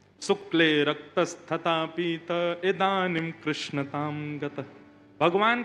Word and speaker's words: कृष्ण: बोलो बाल कृष्ण लाल की जय बंधुओं कई लोग इस नाम को अशुद्ध बोलते हैं कई लोग कृष्ण बोलते हैं कई लोग कृष्ण बोलते हैं कोई कृष्णा बोलता है भगवान का नाम शुद्ध उच्चारण करो नाम क्या है कृष्ण भगवान जय श्री कृष्ण